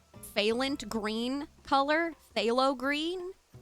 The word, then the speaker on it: phthalo: Is it phthalo green? Phthalo green. I'm assuming the ph is like flem. That's why I'm saying phthalo.